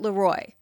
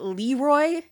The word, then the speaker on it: LeRoy: it caused ticks now I'm gonna pronounce it Leroy but many call it Leroy New York but it seems that both pronunciations are acceptable but even the local